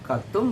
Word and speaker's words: கத்தும்: அந்த பழக்கம் நம்மகிட்ட இருக்கக்கூடாது அப்படிங்கறதுக்காக வேண்டி நம்மள நல்வழிப்படுத்துறதுக்காக வேண்டி களவும் கத்தும் மற அப்படின்னு சொன்னாங்க நாம நாளடைவில என்ன பண்ணிட்டோம் களவும் கத்து மற களவும் கத்து மற களவும் கத்து மற சொல்லி களவும் கற்று மற அப்படின்ு சொல்ல ஆரம்பிச்சட்டோம் அதனால நாம உச்சரிக்கக்கூடிய பழமொழிகளை தெளிவான